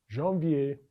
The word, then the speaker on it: janvier: Let us take this opportunity to again go over the pronunciation for the months of the year. Les mois is the months, les mois. Janvier is January.